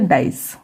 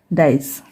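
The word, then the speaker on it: dice: हो गया डाई, फिर सी को पढ़ा जाता है स, और जो लास्ट में ई है ये साइलेंट रहेगा, तो इसे हम पढ़ेंगे डाइस, ठीक है, डाइस।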